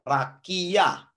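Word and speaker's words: רקיע: kemudian your jadi Raki kemudian Ayin tambah patah saya bilangin tidak dibaca jadi bacanya er rakiah itu rakia itu Cakrawala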